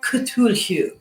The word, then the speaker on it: Cthulhu: of the elder gods so cthulhu is how i will pronounce it although i believe it is properly ketur now if you are